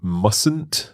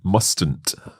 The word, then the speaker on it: mustn't: Notice though, when we say mustn't, there is a silent letter in there, isn't there? That's right. You say mustn't, not mustn't.